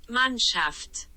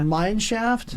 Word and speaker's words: Mannschaft: Mannschaft. Yeah. Mineshaft?